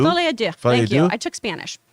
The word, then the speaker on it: Folie à Deux: It's Folie à Deux. Folie à Deux.